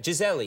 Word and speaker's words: Gisele: how is it pronounced Gisele. Correctly then? Gisele. No, you say Gisele in Portuguese because we say I in the end of the L. Here you eat the I, you know, you only say Gisele.